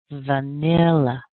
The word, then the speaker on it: vanilla: have weak vowels so here's our new word vanil vanilla vanilla how does that sound can you do it vanilla put a little more strength on and you should be great vanilla yeah so do you